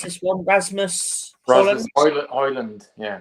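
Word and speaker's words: Højlund: I do rate um um how do you pronounce this one Rasmus hland yeah hland yeah I have been saying it right then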